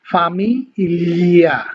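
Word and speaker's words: famiglia: তো মনে রাখবেন, জি এল এ ই এটা যদি একসাথে থাকে, এই তিনটা আলফাবেট যদি একসাথে থাকে তাহলে হচ্ছে আপনাকে লি উচ্চারণ করতে হবে। যেমন হচ্ছে ফামি লিয়া, হ্যাঁ, ফামি লিয়া না, কিন্তু একদম এরকম না।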